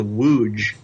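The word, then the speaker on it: Łódź: and that Poland it's a town called wuj but it's it's spelled LOD z like loads but it's okay Oh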